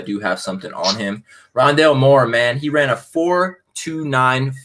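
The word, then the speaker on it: Rondale Moore: rondell moore that's how you say his name rondelle moore out of purdue the receiver he honestly this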